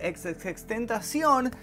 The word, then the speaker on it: XXXTentacion: estamos hablando por supuesto de la muerte de ex ex tentación y convencidísimo que así se pronuncia el nombre he visto a gente corrigiéndome